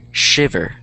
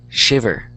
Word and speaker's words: shiver: Shiv and shiver. So the stress is in shiv and that's why it's bold.